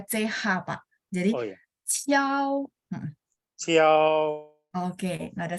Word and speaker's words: ciao: Jadi Q di sini dia bacanya CH. Bacanya ya. Jadi ciao karena IU bacanya IOU. Jadi ciao. Ciao.